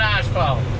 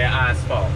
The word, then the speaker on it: asphalt: you pronounce it Nashville it's asphalt I am very aware that that's how Americans say asphalt Nashville I'm not gonna stop saying ice fault because that's just how we say it I'm not saying it's